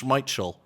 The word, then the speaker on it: Schmeichel: Especially because we've been getting Schmeichel wrong for like 25 years, Roger. It's Schmeichel. I don't trust any of the...